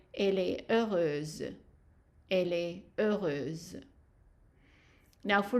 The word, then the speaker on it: heureuse: So heureuse. Z. So the S here, because we have only one S between two vowels, it is pronounced as a Z. So that's why we're saying elle est heureuse.